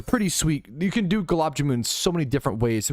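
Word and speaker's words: gulab jamun: love Galabjamoon, bro. It's amazing. I haven't. But I don't. Yeah. And I I looked up like how to like a pronunciation guide and they said galab jammoon.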